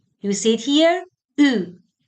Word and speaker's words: eu: U. It's the combination of E and U, and the pronunciation is U.